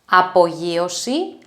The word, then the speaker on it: απογείωση: ayero diadromos the next two words are apolliosi apoyosi and prosyosi prosiosi apoyosi means take off and